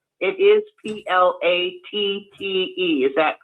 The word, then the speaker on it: Platte: It is p l It is p l a t t e. Is that correct? Yes. Okay. It's just pronounced Platte.